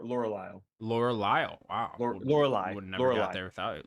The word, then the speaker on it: Lorelei: L'Oreal, No, that's not how you pronounce it. It's Lor, Laurel, Lorelei.